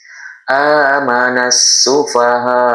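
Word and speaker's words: آمن السفهاء: Ini juga sama langsung disambungkan ke huruf sin. Jadi alif lam ini tidak dibaca. Amanasfaha.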